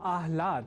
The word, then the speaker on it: आह्लाद: अर्थात आह्लाद को आह्लाद इस स्वरूप में ना समझकर या न लिखकर हम आह्लाद अर्थात पहले ह और बाद में ल इस अक्षर विन्यास से युक्त शब्द आह्लाद का ही लेखन और तदनुसार शुद्ध उच्चारण करेंगे।